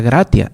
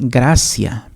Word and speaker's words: gratia: hacen oraciones, por ejemplo, cuando dicen gratia plena, no se pronuncia gratia, es gracia plena, precisamente por las normas del latín.